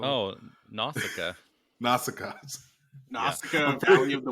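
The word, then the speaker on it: Nausicaä: And 90% of your channel's NECA and little tiny, I don't even know how to pronounce that anime. Nasesco. Oh, Nausicaa.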